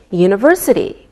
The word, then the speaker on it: university: don't pronounce the H we say a university because university sounds like a wise sound same with a European